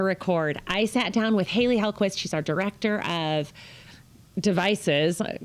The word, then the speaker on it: Hailey Hellquist: With me is our Director of Connected Devices, Haley Hellquist.